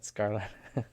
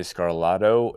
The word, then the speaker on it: Scarlato: Like Hmm. gelato, but Scarlato. Where do you want people to go follow you? Instagram at Scarlato is where I am most active.